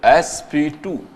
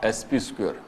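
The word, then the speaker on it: sp²: It is pronounced as sp2, not sp square. इसको हम sp2 कहते हैं, sp square नहीं कहते.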